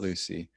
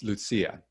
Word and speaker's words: Lucia: And thanks for, can you show us the card again about how to pronounce, not Lucy, Lucia. It's Lucia. Lucia. That's such a great idea. We should all have that. That's where the accent is.